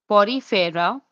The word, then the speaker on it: Porifera: Porifera, celentraa which is also known as nidaria, tenopora, platial menthus, escales, enalida, arthopoda, moolasa, echinino dermata, hemicorda, cordata. Now let's come to the phylm porifera osteia spongosil oculum coanosides spicules spongen herafrodite fibers